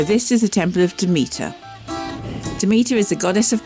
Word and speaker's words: Demeter: I don't know you said Dimitris it's not Dimitris it's about Denmark see they're a bit voiceover required despite research I still can't promise the best pronunciation for this is a temple of Demeter Demeter is a goddess of grain and this